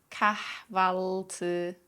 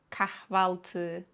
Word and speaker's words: kahvaltı: But Turkish H sounds aren't silent. Practice lightly exhaling on the H sounds and go hayat, hayat, kahve, kahve, ahlak, ahlak, kahvaltı, kahvaltı, şehir, şehir, kahvaltıda kahveyle hayat harika.